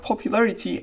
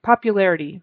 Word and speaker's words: popularity: um non-native speakers do popularity and in America that turns into more of a very soft T sound more like a d a soft D popularity aity aity not